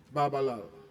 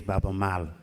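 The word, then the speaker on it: Baaba Maal: Babalal. Thank you very much. I just want to correct something because to pronounce the name is Baba Mal.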